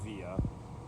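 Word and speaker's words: Wiha: i've got a wia i know it's actually pronounced via but we'll say we because we're in the u.s cat 2 precision screwdriver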